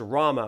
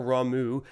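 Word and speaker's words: Ramuh: about the storm cender his name is Rama or ramu if you talk to different people in this game Cindy and her good old southern draw is going to say Rama and then others are going to maybe say more of a ramu sort of thing so um for our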